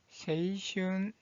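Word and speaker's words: 青春: 자, 138번 이 한자의 발음은 세이슌, 세이슌, 청춘.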